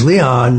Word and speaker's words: Leon: It is Judge Leon first of all in terms of the pronunciation.